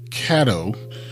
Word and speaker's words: Caddo: No, I mean, I am, of course, familiar with Caddo. I used to pronounce it wrong. I'd be like Cato all the time, and then I've been corrected a few times.